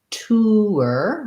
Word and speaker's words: tour: find it i think you can say tour with an ooo er tour tour tur and you can also